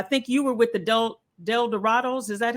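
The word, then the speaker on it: El Dorados: starting off i think you were with adult del dorado's is that how you say it okay yeah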